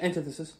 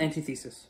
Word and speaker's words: antithesis: Oh, I think I pronounced that right. Yeah, antithesis. Yeah, I pronounced that right. Not antithesis. Yeah, it looks like that, but it's not pronounced like that.